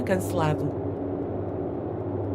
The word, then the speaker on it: cancelado: O comboio foi cancelado. O comboio foi I want to say cancelado, O but comboio foi cancelado. cancelado is about right, but it's still the U sound at the end.